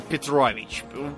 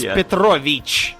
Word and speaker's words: Petrovich: book is named Vladimir Petrovich. Petrovich what? This demands a last name. Yeah, and you even pronounce it wrong. It's like Vladimir Petrovich. Or sometimes Petrovic. Petrovic. It's Petrovich, not Petrovic.